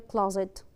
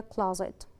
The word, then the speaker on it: clothes: For example, she put the cloth in the closet. She put the cloth in the closet. What about this word? Correct pronunciation.